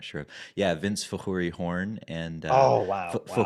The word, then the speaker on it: Fakhoury: warren because i know your name is vince horn and i i don't know what's going